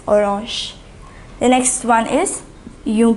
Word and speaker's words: orange: Une orange, so it is the same in French as well. The pronunciation alone varies. Orange.